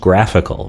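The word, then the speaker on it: GraphiQL: South 3000 forward slash graph I QL pronounced graphical right you'll see we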